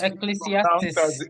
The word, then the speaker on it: Ecclesiastes: Is that how it's pronounced? This verse. Ecclesiastes.